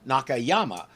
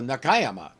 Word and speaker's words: Nakayama: this and pronounce it Nakayama but four syllable words like this put the accent on the second syllable not the third so Nakayama Spider-Man's last name is